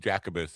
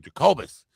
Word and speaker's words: Jacobus: on that like because I kept going to Jacob Jacabus and she's saying Jacobus.